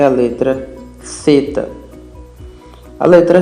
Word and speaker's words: θ: Θ, θ, θ, θ. A letra θ tem o som de TH do inglês, como em thanks.